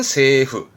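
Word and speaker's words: 政府: 그래서 정부 발음은 세후.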